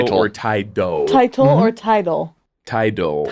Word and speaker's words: Tidal: tight, like title Title. or Tidal. Title or Tidal? Tidal. The Tidal.